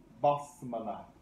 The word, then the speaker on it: basmalah: statement Bismillah Rahman Rahim is called basmalah. Bas with the A sound. While the statement itself is pronounced bis, the name of that statement is basmalah.